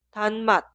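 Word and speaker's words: 단맛: Ahora leemos las dos sílabas juntas. Tan mat, tan mat, tan mat, tan mat.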